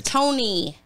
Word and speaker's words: Tone: nicknames tone and Men it's Tony the E is long okay Tony and